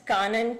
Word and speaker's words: Kanan: i'm sorry did the jurors need her to spell it again it's kanan k a n all right thank you good